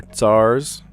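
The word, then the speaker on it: tsar: Old Russian rulers are tars. That ts sound is hard to say.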